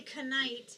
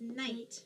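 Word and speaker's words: knight: gonna hear the kite not gonna say can aight it's just night right the K is a silent sound never hear a night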